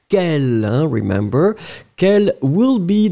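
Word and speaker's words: quelle: So let's agree on the fact that quel, whether it's masculine or quel, the feminine form as we have right now on our screen is pronounced exactly the same way.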